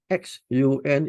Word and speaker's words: Xun: If you see box number 4, there is this particular word, English word called the XUN in green color. This is pronounced as Xun.